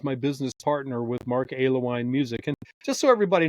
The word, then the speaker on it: Alewine: business partner with Mark Alewine Music. And just so everybody knows, the name Alewine, I'm a little hesitant to say it like this, but it's the two alcoholic beverages together, ale and wine.